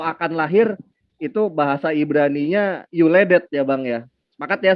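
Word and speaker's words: יולדת: Yud lamed dalet taf ya, yuledet dibacanya, ini saya hitamkan.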